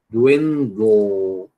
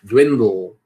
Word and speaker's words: dwindle: Deveria ter, porque existem duas sílabas nessa palavra. Dwindle. Percebe, né? Dwindle. Dwindle. Percebe que tem duas sílabas, né?